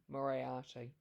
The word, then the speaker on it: Moriarty: I'm going to say this name wrong, I'm sure. Is it Moriarty or Moriarty? How do you say Moriarty. Liam? Moriarty.